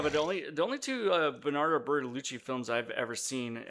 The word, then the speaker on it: Bertolucci: Bertolucci. Yeah. Berta. It's spelled Bertolucci.